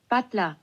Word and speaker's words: Butler: I just looked up how do you pronounce just the word Butler in German? Butler. Butler. Butler. That's how you say Butler.